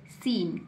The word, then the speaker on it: SCENE: क्यों, क्योंकि सी के ठीक पहले एस आया है, सी के ठीक पहले यहाँ पर एस आया है, एस को पढ़ेंगे, सी को नहीं पढ़ेंगे, सी को छुपा देंगे तो क्या बन गया, सीन, क्या बन गया, सीन।